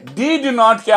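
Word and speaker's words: didn't: এরপরে ডিড নটকে আমরা কখনো ডিড নট বলবো না, বলবো ডিডন্ট, ডিডন্ট বলবো ডিডন্ট, এই যে ড ই ড নট ডিডন্ট বলবো আমরা।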